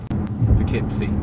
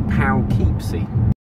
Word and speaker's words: Poughkeepsie: It's spelled P-O-U-G-H. So that, along with plow, would be pow. And then it's K-E-E. So I think it should be Poughkeepsie.